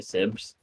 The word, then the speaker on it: siybs: I think this is siybs gameplay or sibs. I should. I believe so, yeah. I saw someone in chat say sibs.